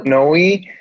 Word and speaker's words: PNOE: So PNOE comes from the word PNOE, which in Greek means breath.